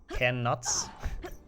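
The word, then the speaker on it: Knuts: Can nuts? I guess that also works. I mean, I still think they are actually pronounced kuts.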